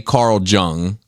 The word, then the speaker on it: Jung: it's I would say Carl Jung, but I think it's like Young.